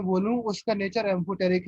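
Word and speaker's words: amphoteric: सर यस, सर वो metalloids के नीचे आपने ए से कुछ तो लिखा है उसका उसे इसका कैसे ये प्रोनाउंस? हाँ एम्फोटेरिक, ओके एम्फोटेरिक लिखो यहाँ पर, ए एम ए,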